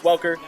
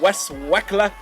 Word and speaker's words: Welker: Yeah, I know it's Welker. But Mayor Menino, the mayor of Boston, pronounces it Wes Welker.